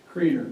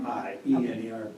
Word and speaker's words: Kriener: How do you say your last name? Kriener. Kriener? K-R-I-E-N-E-R. Yep. Okay, Kriener.